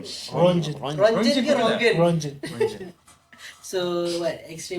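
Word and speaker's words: Röntgen: How do you pronounce his name? Rongen.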